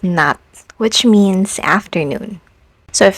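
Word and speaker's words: 낮: Even this consonant is pronounced as t as a final consonant sound, like in the word nat, which means afternoon.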